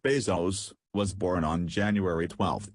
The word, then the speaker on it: Bezos: number 3 Jeffery Preston Jeff Bezos pronounced Bezos was born on January